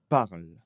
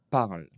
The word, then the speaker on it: parles: Tu parles. Tu parles. On ne prononce pas le e ni le s.